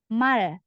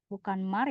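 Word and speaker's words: 말: Ini bacanya berarti mal. Mal. Jadi bukan mar ya, salah bukan mar. Kalau di bawah dibaca L. Mal jadinya.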